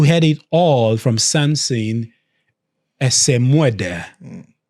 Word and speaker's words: Esemuede: Esemuede. Well, that's kind of the anglicized one, and usually what a lot of people. But the real pronunciation in Benin is Esemuede.